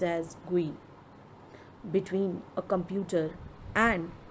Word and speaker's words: GUI: Windows is a graphical user interface, GUI pronounced as GUI, between a computer and its user.